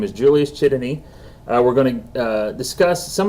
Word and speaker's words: Csotonyi: I mispronounced his name earlier, or in the show, but his name is Julius Chitany.